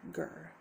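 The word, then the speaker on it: GIR: say the mascot is Gurr from Invader Zim. I've been looking into that, and it's a good show. It's spelled G-I-R, Gurr.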